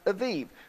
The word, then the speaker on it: Aviv: Some people pronounce it Aviv. The B and the V and Bet can be B or V.